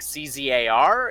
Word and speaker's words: Zar: Can you spell it? Is it like CZAR?